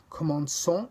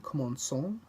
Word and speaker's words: commençons: The cedille indicates that you pronounce the C as an S. For example, commençons, let's begin, commençons.